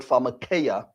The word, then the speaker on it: pharmakeia: It comes from the Greek word pharmakeia, and I'll spell that for you.